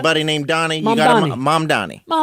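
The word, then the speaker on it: Mamdani: Oh, I always say Mandani. You still said it wrong. Mom Donnie.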